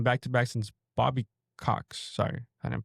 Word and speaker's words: Cox: But he's the first NL manager to win back to back since Bobby Cox. Sorry, I didn't pronounce that right.